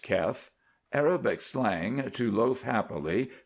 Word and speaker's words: kef: Kef, pronounced Kef, Arabic slang to loaf happily, to invite one's soul.